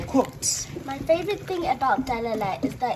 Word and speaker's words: derere: You can learn how to say derere. I can't pronounce it properly, but Mum, tell them how to pronounce it. Derere.